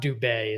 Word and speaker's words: Dube: Yes, it's Dube is the way the last name is pronounced.